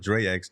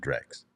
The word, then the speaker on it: DreX: method and come on I want to call it Drex don't tell me that you pronounce it Drax because the way you spell it it's the Drex methodology so it's the Drex